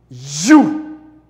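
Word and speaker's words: HU: Les écrit H-U et les prononcer You.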